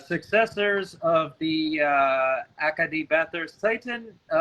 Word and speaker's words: Titan: of the Acadie Bathurst Titan, or Titan, if we're using the French pronunciation, of course, were set against the defending QMJHL champions in the form of the Moncton Wildcats.